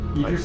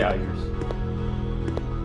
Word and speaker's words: Idris: Idris Ela. I always say Iris.